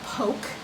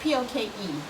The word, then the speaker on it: poke: Poke, P-O-K-A-Y is how you pronounce it. And don't ever call it poke. You will look like a total haole. It's poke, spelled P-O-K-E, pronounced poke.